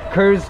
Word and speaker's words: Krzzt: say it's called kurt it's spelled krzzt it's called cruz cruz cruz uh which